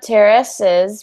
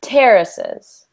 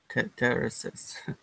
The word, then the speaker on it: terraces: word your asus good instead of terraces we just want to do terraces terraces good yeah so the emphasis is on the first syllable good excellent um and